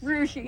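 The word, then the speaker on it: Rusche: Rushi. Rushi. Spell it for me.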